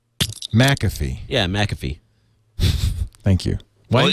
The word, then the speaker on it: McAfee: You don't get a copy of McAfee when you get a Core 2 Duo.